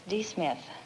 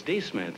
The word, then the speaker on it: D'Smith: My name is not Smith, it's D. Smith. Oh, it's D. Smith, eh?